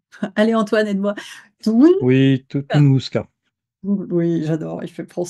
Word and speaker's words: Tunguska: Toun Oui, Tunguska. Oui, j'adore, il fait prendre son temps de notes. Oui, Appelle-moi professeur Antoine. professeur Antoine. On accentue sur la deuxième syllabe.